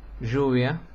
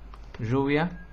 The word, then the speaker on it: lluvia: como es este sonido este sonido es el sonido de el inglés en la palabra pleasure nosotros decimos lluvia yo lluvia llueve yo pero qué